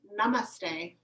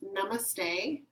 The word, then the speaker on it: namaste: word so it's pronounced namaste yeah it's just pronounced namaste a little bit less complicated vowel than you said it before so the word again is namaste there's actually two parts